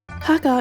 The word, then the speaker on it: har gow: Har Gow is the Cantonese pronunciation. The Chinese one would be Xia Jiao, but I never really used the Mandarin pronunciation. I only heard it with Har Gow.